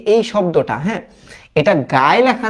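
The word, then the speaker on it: Guy: এখন একটু খেয়াল করো, হ্যাঁ, এই যে এই শব্দটা, হ্যাঁ, এটা গায়ে লেখা না, অ্যাকচুয়ালি এটা ফ্রেঞ্চ ভাষায় এটাকে উচ্চারণ করে হচ্ছে গি, আর এখানে যে ডে লেখা না, এটা উচ্চারণ করি আমরা দ, হ্যাঁ, মোপাসা।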